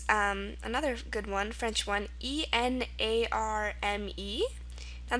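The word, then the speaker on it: enarme: Okay, word number 3 is another good one, French one, E-N-A-R-M-E. Now this is pronounced enarm or enarm.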